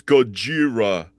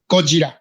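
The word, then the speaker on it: ゴジラ: They're like, it's not Godzilla, it's Gojira. And maybe that's the original way, but do you guys in Japan, what do you say? What's the way that you pronounce Godzilla? Gojira.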